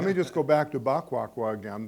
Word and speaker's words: Baquaqua: But let me just go back to Baquaqua again, because of the pronunciation because we were completely wrong because it's actually two words. It's "Ba" in Hausa. It's "Ba" and "Quaqua," and then-- AUDIENCE: Equiano has got one word, you said.